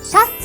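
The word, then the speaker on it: シャツ: individual pieces of clothing tops or shirts are called chats it a Japanese pronunciation of the English shirt to wear a shirt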